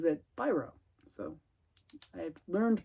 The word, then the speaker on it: Biro: name before like I finally learned how to pronounce his name it's Biro not B row so if you're French you would pronounce it Biro but uh but he's not French uh so he pronounces it pyro so I learned to pronounce it correctly uh